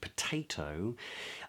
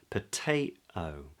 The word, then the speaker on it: potato: mention that for instance in a word like potato, um the the t uh the first t in the word is part of the stressed syllable. So I say pate. So I wouldn't glottalize that t. But the second t in the word toe. Paytoe. that toe, that part, that syllable is the weak syllable in the word. So I could glottalize that T.